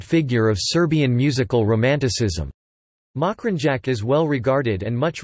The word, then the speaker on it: Mokranjac: September 1914, known as Stevan Mokranjac, Mokranjac Serbian pronunciation, Stijen Mokranjac, was a Serbian composer and music educator.